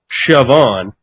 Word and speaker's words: Siobhan: When you add that to the spelling of your first name, it's pronounced Siobhan, which is a lovely name, by the way.